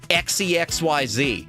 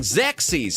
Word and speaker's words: Xexyz: I My parents, everyone in my family, they always thought it was pronounced XEXYZ.